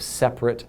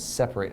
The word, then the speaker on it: separate: with the others and that is spelled the same but it's not pronounced the same as the verb separate and so we have separate as an adjective and separate as a verb and